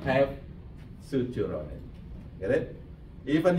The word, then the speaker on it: suture: is connected by fibrous joint is called the sutur sorry to say it correctly suure suture that's maybe I okay except except there is